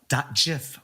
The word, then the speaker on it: GIF: Find me on the Insta at Meet Me South of Market .gif with a soft G.